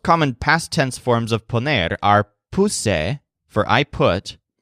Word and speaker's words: poner: putting other forms of poner in this room are pretty standard the stress syllable pong applies to pawn a bonus and ponen in the